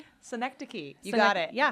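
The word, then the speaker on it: synecdoche: last so that we can really focus on pronouncing it correctly. Senectic. Senectic.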